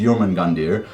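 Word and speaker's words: Jörmungandr: small part um so then my favorite is yerman gandir who took me forever to pronounce that properly and he is the world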